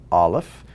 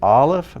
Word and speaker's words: aleph: letter at the bottom so the aleph makes no sound it is silent but if there's a vowel attached to it you just simply make that vowel sound okay let's get back